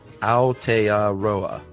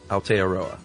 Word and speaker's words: Aotearoa: Um uh Aotearoa or Land of the Long White Cloud is pronounced Aotearoa. Aotearoa.